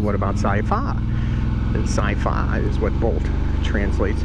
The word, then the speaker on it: Saifaa: Now, when the way that the word is said with the tones in Thai, Sci-Fi is how it's supposed to be pronounced, because the second syllable, the fa part, has the falling tone, so it's up high.